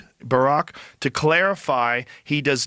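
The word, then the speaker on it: Barak: You know, Epstein with a smiley emoji asks asked former Israeli PMhad Barack, that is how you say his name, Barack, to clarify he does not work for the MSAD in a meeting with a senior Qatari investment official.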